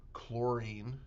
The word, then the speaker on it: chlorine: And they consist of the elements florine with the symbol F, watch the uo in the spelling, chlorine, CL, watch the silent H in that spelling, bromine, Br, iodine I, and aine A T.